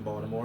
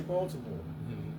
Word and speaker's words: Baltimore: You say Baltimore. Baltimore. I say Baltimore, too. Some people say Baltimore. They put a D in it.